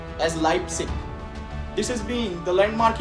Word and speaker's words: Leipzig: at the University of Leipzig which is actually pronounced as Leipzig this has been the landmark event so the